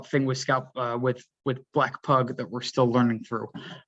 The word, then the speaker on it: Black Pug: Black Pug, P-U-G, pug like the dog, not bug. Black Pug, for those interested in the actual pronunciation and spelling.